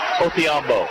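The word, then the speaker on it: Odhiambo: You come and look at his name in the program, you're going to say, hey, guys, that's a D, but he wants it to be pronounced Thee, and we got that clarified. Yep. And his coach thought it was a D, and it is spelled with a D.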